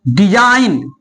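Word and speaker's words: design: उच्चारण नहीं किया जाता जैसे कि डिजाइन देखिए यहां पे जी के बाद क्या आ रहा है ए आ रहा है इसलिए जी साइलेंट है डिजाइन भी होता है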